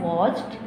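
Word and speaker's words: watched: यहाँ पे सी एच है तो सी एच हमारे पास ये फर्स्ट वन में है जहाँ पे ईडी की साउंड टी आ रही है, तो हम इसको प्रोनाउंस करते हैं वॉच्ड, वॉच्ड।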